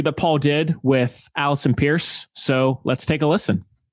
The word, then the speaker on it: Peirse: And can I also say thank you so much for pronouncing my surname correctly, because it's pronounced Peirse just as you did it, but it's spelled really weird.